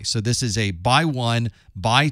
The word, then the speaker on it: x1: Normally, we would pronounce this with the X being a by. So this is a by 1, by 2, by 8, or by 32, for example.